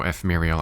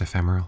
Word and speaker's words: ephemeral: I am you no F Mariel Army could ever phase me it's pronounced ephemeral it's somehow around eight